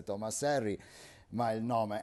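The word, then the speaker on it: Thomas Henry: alla fine del 1700 Thomas R pronuncia inglese Tomas Herry ma il nome è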